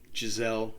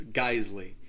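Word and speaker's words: Geissele: real reason to understand it's not pronounced gisele it's geisley they are an ultra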